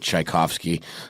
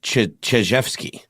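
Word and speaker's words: Chizhevsky: I keep seeing this name and I want to pronounce it Tchaikovsky. It's very close. It's Chijevsky.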